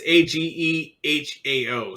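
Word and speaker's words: Ahegao: And then like seeing some more of the I don't know how you say it, a hagyo. It's Agehao, so Yeah.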